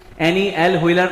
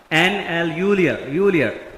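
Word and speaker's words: Anne L'Huillier: देखिए बच्चों जो हमें दिखाई दे रहा है हम वही याद करेंगे, वरना इसका actual pronunciation एनी एल व्हीलर नहीं है, एन एल यूलियर।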